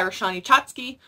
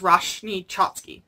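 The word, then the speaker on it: Roshani Chokshi: I managed to get an arc of The Gilded Wolves by Roshani Chotsky, or I think it's Roshni Chotsky. I think that's how you say it properly, sorry.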